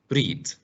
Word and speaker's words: read: but when you read the past of read is read read read the post of read is the same pronunciation of the color red you know the color